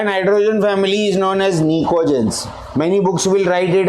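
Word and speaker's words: pnictogens: वहाँ पर P से ही शुरुआत होगा अल्फ़ाबेटिकली, बट P साइलेंट है. It is actually Nicogens. It is not Nitco.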